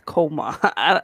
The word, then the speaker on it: Kamala: So she's saying, no, that's not how you pronounce it. It's coma. I hope I'm saying it right.